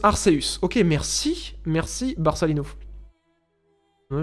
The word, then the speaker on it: Arceus: Ça se prononce Arceus.